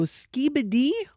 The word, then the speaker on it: Skibidi: So, Skiibbidy or Skiibbidy?